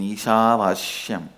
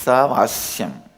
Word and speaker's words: Isavasyam: Listen, my pronunciation Ishavashyam is also Padabeta. How I heard from my masters, I am repeating, but actually it is Isavasyam.